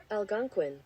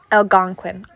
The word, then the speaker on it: Algonquin: o q u okay so here we go Algonquin Algonquin see I would have never got that and